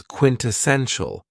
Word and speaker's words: quintessential: Another very cool adjective is quintessential and this word has four syllables and the stress is on the third syllable.